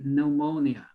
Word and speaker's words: pneumonia: is not wrong okay to pronunciate the p but they usually do not pronunciate the p here right usually they say pneumonia all right but you